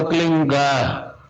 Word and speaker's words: क्लीं: की मात्रा और बिंदी, उसका उच्चारण होगा क्लींग। गा की ध्वनि निकलेगी पीछे। आप अंग बोलो, यहां स्ट्रोक लगता है, अंग बोलो।